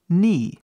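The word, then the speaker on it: knee: por último vamos olhar ni que significa joelho ni novamente o k mudo por último nós temos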